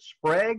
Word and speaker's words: Sprague: uh uh rosetta douglas and then is it sprague is that how you pronounce her last name that's right the uh